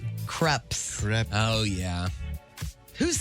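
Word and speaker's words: crêpes: I used to love to go to the Magic Pan for their Magic Pan had those crepes. Yes. Oh, why do you say it? Is not crepes. It's creps.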